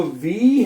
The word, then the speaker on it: W: double U जो है उसको आपने पढ़ना है वे पंजाबी वाला वे क्या पढ़ना है वे ठीक